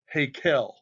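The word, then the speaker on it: היכל: Verse 6 also brings up the house of the Lord, pronounced Hakel in Hebrew.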